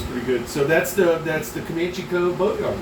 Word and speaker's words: Commachee: So that's the Commachee Cove Boatyard, right? That's what they call it? Commachee Yacht Yard. Commachee Yacht Yard.